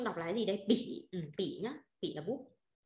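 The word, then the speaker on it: 笔: Bút nào, bút trong chung đọc là cái gì đây? Bỉ, bỉ nhá, bỉ là bút.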